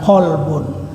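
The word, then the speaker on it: قلبٌ: banyak yang memiliki kemiripan seperti kata kalbun dan kolbun. Kalbun itu pakai huruf kaf ya, kaf lam ba, kalbun artinya anjing. Kalau huruf kafnya diganti dengan qaf, kolbun itu berarti hati.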